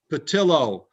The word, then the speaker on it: Patillo: patio good morning sir do you pronounce a ptio or patilo patillo patillo yes uh you do you